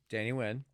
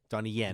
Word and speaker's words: Donnie Yen: And one is the actor that was chosen, Danny Wynn. Donnie Yen. Donnie Yen. Racist. Donnie Yen. Nope, Donnie Wynn, you going to say it right.